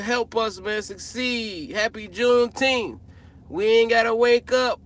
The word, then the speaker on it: Juneteenth: Juneteenth, that's how you say it.